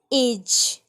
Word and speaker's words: age: Gene, germs, एज.